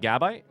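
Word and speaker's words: Gabite: Which one is this the emphasis on? I think it should definitely be on the on the second one. The bite. Gibble. Good bite or chomp. Is it not on that? Is it gabit?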